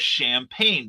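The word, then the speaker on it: Champaign: illinois actually uh and its name was champagne but it was spelled c-h-a-m-p-a-i-g-n because we in illinois do not know how to spell uh or pronounce things properly we have a our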